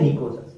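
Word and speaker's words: pnicogen: Simple अपन spelling NICOGENES भी लिखते हैं, लेकिन ये करेक्ट है, इसमें साइलेंट रहता है POT। इनको बोलते हैं निकोजन।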